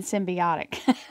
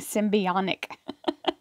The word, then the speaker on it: symbiotic: We have the, I said it wrong in a reading past, so there's no N in symbiotic. I was saying symbionic.